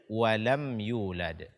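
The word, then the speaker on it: وَلَمْ يُولَدْ: ini yang pertama adalah menahan suara pada mim sukun pada kata lem ya di The walam yulad disini hukumnya adalah izhar syafawi dibaca dengan jelas matinya tanpa menambah dengung namyi the walam yulad ini tidak dibenarkan karena hukumnya bukan Ikhfa Syafawi bukan pula idgham mimi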